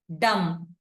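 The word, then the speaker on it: dumb: వదిలేసాము బి అనే letter sound ని వదిలేసాం అవునా డం coming to option B నంబర్ నంబర్ ఇక్కడ బి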